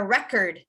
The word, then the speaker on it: record: me correct a record you want to emphasize the beginning because it's a noun right so you would want to emphasize r e but now if it's a verb if it's a verb then you would say to record to record can someone